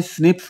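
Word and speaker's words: SNPs: polymorphs कहते हैं और एसएन पीज को शॉर्ट में स्निप्स प्रोनाउंस करते हैं एसएन पीज की हेल्प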